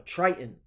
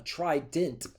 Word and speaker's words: trident: A trident. My bad. I said it wrong. Trident.